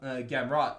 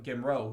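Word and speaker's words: Gamrot: he took out uh gamrat uh uh matias gamra gimro who of course or sorry gameron is it's not a french name it's polish names we actually pronounce that t uh so and he's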